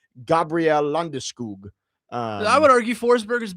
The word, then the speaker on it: Landeskog: I heard him pronounce his name the Swedish way, Gabriel Landeskog.